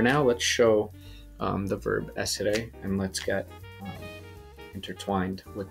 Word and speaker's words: essere: For now, let's show the verb essere, and let's get intertwined with the verb and understand how it works. So essere, two S's, very important to pronounce both of them.